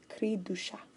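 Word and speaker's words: cri du chat: they are born oops it's not duh its Creed ooh Creed do shop ok fixed so creepy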